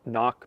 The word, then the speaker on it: Cnoc: leave the sea silent and just say it knock but typically krok or kanak so there you go